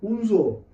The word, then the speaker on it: Hunza: Hunza, the actual accent, actual pronunciation, original name, de facto name is Hunzo. H-U-N, the term Hunzo. When British occupied this region in 1891, they changed Hunzo into Hunza in their official document, in their